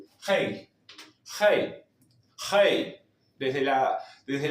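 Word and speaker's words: rei: Rey, cambiamos la y por la i latina, pero se pronuncia como si fuera un h. Hei, hey, hey.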